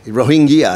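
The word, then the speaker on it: Rohingya: so you don't think this influx of RO hinga orange yeah however you pronounce it yeah we say ro India is it that's correct it's not it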